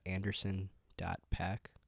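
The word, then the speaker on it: Anderson .Paak: I've been getting into Anderson PAC that's how you pronounce his name is it a recent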